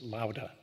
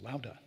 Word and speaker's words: Laura: I'm supposed to pronounce it Lauda. She is from Mexico, and that's apparently the way they pronounce that name in Mexico, Lauda and Anderson Barbada.